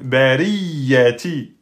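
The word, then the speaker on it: البرية: Donc, vous ne dites pas bariyati, bariyati. Bariyati, vous avez oublié la shidda. On dit bariyati, bariyati. Hein, on insiste sur le ya.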